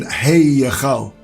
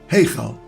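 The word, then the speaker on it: היכל: We don't pronounce a separate Y as in Hey Yechal. Rather, it's a blended vowel sound, Heichal.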